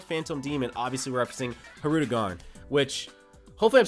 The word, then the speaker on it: Hirudegarn: R in his name I used to say her two gone there's little I didn't literally say NER so hopefully was forgotten